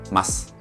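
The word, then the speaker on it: ます: del final y añadimos mas. Esto, aunque se escribe masu, se lee mas, ¿de acuerdo?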